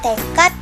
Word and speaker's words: tekad: Misalnya, tekad, abad, akad, babat, jihad. Dalam lafal bahasa Indonesia itu berakhiran huruf T.